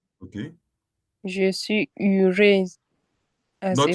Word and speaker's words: heureuse: The way you are pronouncing it with U double I. U, not it's not U, it's E. Like E and A.